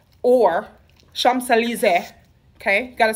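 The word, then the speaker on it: Champs-Élysées: at in new york rockefeller center right or champs-elysees okay gotta say it like that and petty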